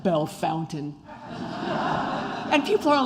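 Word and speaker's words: Bellefontaine: couch and I have this bad habit of pronouncing all the St Louis French names like they're French Gravois Lafayette how about belfonte instead of Belle Fountain and people are like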